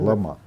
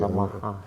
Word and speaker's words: лама: Ну, в Бурятии говорят Лама. На ударение на последнем слоге. Лама.